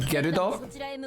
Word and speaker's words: Gerudo: You notice how she said Gerudo? That's how it's pronounced.